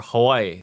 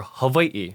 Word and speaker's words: Hawaii: we won't say words incorrectly like ukul or Hawaii instead we will say them correctly like ulele or Hai or Hawaii after this section you know how